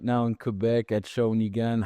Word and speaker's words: Shawinigan: So it took me like 10 times to say it perfectly, Shawinigan.